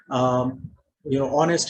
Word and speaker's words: honest: Honest has a silent H.